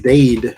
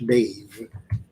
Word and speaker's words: Dade: It's Dade, not Dave.